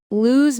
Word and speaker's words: lose: Lose means to not win or to misplace something. Exactly. I always lose my keys. Our team might lose the game. It rhymes with choose.